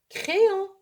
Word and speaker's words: crayon: Y, نطقنا بها I. تنطق عفوا I. ليس Y. Crayon, c'est un autre exemple. مثال آخر تعرفنا عليه على نطق Y التي تنطق I في الكلمة.